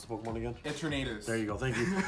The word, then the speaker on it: Eternatus: Pronounce the Pokemon again. Eternatus.